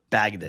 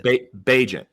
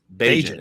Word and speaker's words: Bagent: Is it Tyson Bagdon? Bagent. Bagent is how you say it.